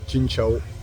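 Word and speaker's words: Xin chào: Alors ici, pour dire bonjour, c'est Chin Chao. Chin Chao. C'est pas la super prononciation, mais j'arrive à me faire comprendre.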